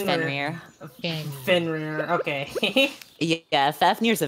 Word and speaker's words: Fenrir: Because I can't think of how to pronounce the giant dog from North mythology. Mythos? Fenrir? Yeah, Fenrir. It's Fenrir.